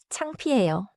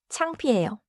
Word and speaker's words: 창피해요: Now, 창피해요. The middle sound is P, clear and simple. 창피해요.